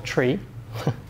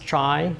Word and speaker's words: trie: trees is called a tree it's also pronounced try just to differentiate it from tree but it should really be pronounced tree because it comes from the word retrieval pense TR ie these